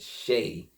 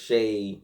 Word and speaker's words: Shaykh: And when I kept looking it up, kept looking for the pronunciation, it kept going back to Shay. They kept saying it like Shay. They wasn't saying like different. It was Shay, like Shay.